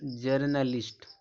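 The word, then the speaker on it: journalist: रहा है यहां देखो ओ यू ओयू का जो चरण होता है वह छोटा आ निकलता है दोस्तों छोटा आ निकलता है जैसे यहां दिया जनरल जर्नलिस्ट यहां पे देखो ओ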